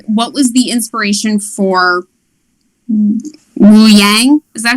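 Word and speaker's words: Ouyang: head but um what was the inspiration for woo yang is that how you say it oh yeah oh yeah oh young the general yeah um yeah he has no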